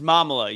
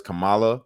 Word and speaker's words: Kamala: IND an American president her name is mamala you say it right yeah no we're not going to disrespect her by messing up her name that is Kamala camelto Harris so you